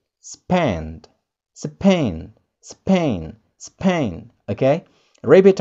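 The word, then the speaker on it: Spain: Spanyol, if we translate it into English, we may say spine. Spine. Spine. Itu kalau pengucapan dalam bahasa Indonesia. But how to pronounce it in English correctly, we may say span.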